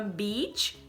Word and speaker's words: beach: Então se eu quero falar a palavra sheet, eu vou falar sheet, com um sorriso. Sheet. Lençol ou folha de papel, tá bom? E se eu quero falar a palavra beach, eu dou um sorriso também. Beach. É falando um I sorrindo. Beach.